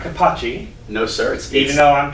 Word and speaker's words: Capaci: And if you were in Italy, you would be Eric Capaci. That's exactly right. If you're in Italy, then you would pronounce it Capaci.